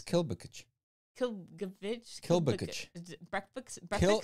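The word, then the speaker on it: Klbkch: Kilgovich, I think it no, is. No, it's Kilbovich. Kilbukic.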